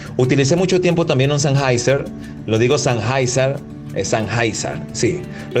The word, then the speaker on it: Sennheiser: Y una de las correcciones que me hizo me dijo, no se dice Sennheiser, se dice Sennheiser.